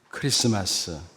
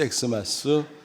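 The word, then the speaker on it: Xmas: 읽을 줄도 몰랐던 겁니다 여러분 이거 어떻게 읽죠 크리스마스 크리스마스라고 읽어야 됩니다 영어 알파에처럼 생겼지만 사실은 헬라 크리스토스 단어의 첫 글자 키입니다 이런 사실을 잘 모르고 사람들이 엑스마스 엑스마스 부르는 것입니다 무지를 드러내는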